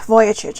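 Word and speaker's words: Vujicic: something yesterday so i was talking about nick voyacic i believe that's how you say his name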